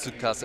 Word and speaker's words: Tsukasa: is pronounced like that, just say like su, or like sku, like as in scuba diving, like su, sku, like Tsukasa.